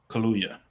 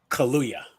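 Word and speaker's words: Kaluuya: this name right Danielle kuuya kuuya because I always want to say like I always think of like the drink but I know it has like an extra syllable in there yeah Kya got it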